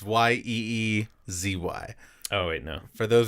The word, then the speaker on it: Yeezy: Do they make Yeezys that big? They do. Am I phonetically saying that right?